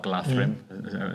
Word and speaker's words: Galadhrim: And if you basically upgrade your Galadhrim warriors to Galadhrim Guard or Galadhrim, as it should be pronounced, um their courage six.